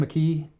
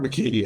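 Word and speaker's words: McKee: McKe. Robert McKe.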